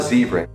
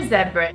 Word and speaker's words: zebra: Listen to how they say this word. I saw a zebra. I saw a zebra. Can you hear that? The Americans say ah, and the English people say it more like oh.